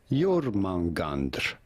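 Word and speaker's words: Jörmungandr: serpent in Norse mythology we are looking at how to pronounce your mangander you all right I got it pretty much right Mitchell is Muppet Gary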